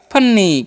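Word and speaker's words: funny: Double N है तो आधा न और फिर से एक न हो जाएगा और वाई है तो दीर्घ तो हो गया फन्नी।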